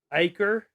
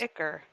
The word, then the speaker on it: ichor: I have It always is pronounced it ichor.